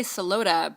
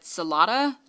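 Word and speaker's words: Celotta: Which I did want to say, we have been mispronouncing her name. We finally heard them say it in the commentary. We say Solota, but everyone in the commentary said Solata.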